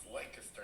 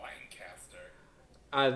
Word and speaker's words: Lancaster: That's pronounced Lancaster, not Lancaster.